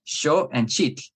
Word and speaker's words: Xochitl: But if you're going to speak it in Nawatl, then you want to try and make the native pronunciation. It's sho and chitl. And beginners will have difficulty with that because we want to assimilate those two sounds.